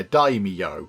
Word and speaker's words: daimyo: Apparently that is pronounced daimyo. I think I was saying daimyo, was I? So I wasn't far off, but yeah, daimyo is how you say that word there, apparently, according to people in the comments.